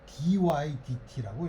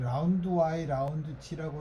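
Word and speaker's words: ∂y/∂t: 여러분들 선배나 뭐 선생님들이 이거를 뭐 라운드 뭐 이렇게 읽는 사람들이 있는데 어 그렇게 안 읽는 거야. 그렇게 읽으면 미국 사람들이 뭐 what 이렇게 얘기하니 읽지 않고 그냥 dydt라고 읽어요. dydt야. 여러분들이 라운드 y 라운드 t라고 읽는 거는 틀린 표현.게 그럼 dydt랑 그냥 전체 미분인 dydt랑 어떻게 구별하나요?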